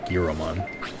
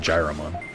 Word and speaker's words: Giromon: It's G-I-R-O, Gyromon. Why would I pronounce it Gyromon? That's not how an I is pronounced. Oh no, they're improving my experience, how dare they? Gyriomon? I mean, I don't think so. I think it's G-E-A-R-O-Mon if you're gonna like type it out, the pronunciation.